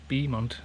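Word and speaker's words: Beaumont: It's actually pronounced Bemont which means beautiful hill.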